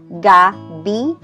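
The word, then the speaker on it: gabii: So you can see here there are two I's. We do not read them as one, but we read them as two separate syllables. So that becomes gabi'i.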